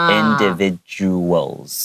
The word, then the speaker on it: individuals: 再念一遍 Individuals 對很多人不太會念這個字 The second D has kind of a J sound Individuals 對所以很多人會說 Individual Individual是什麼東西